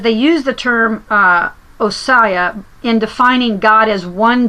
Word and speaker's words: Ousia: So another word that's important, just because I want to put that out there, is, I probably pronounce it, it's Ousia. Ousia. It's Ousia.